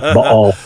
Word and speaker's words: Baal: I only say it that way so scholars know that I know that that's how you're supposed to pronounce it, Baal.